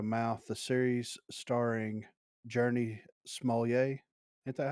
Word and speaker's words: Smollett: Helped by strong word of mouth, the series starring Journey Smollett. Ain't that how you pronounce that?